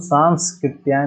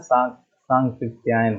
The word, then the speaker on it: सांकृत्यायन: राहुल सांस्कृत्यायन नहीं होता, सांकृत्यायन होता है, सांकृत्यायन। तो इसका उच्चारण पे ध्यान दीजिएगा, सांकृत्यायन, राहुल सांकृत्यायन।